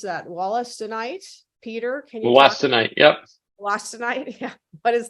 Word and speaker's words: wollastonite: And then let's see, we have a question around how do you pronounce that? Wollastonite? Peter, can you Wollastonite, yep.